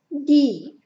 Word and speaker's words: die: El artículo femenino sería die. Di. ¿Os acordáis que cuando había este diptongo, entre i y e se alargaba la pronunciación de la i y no se pronunciaba la e? Di.